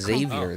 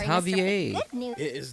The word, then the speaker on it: Xavier: they're pronouncing his name they're not pronouncing it as Xavier they're pronouncing it as Javier Xmen get it wrong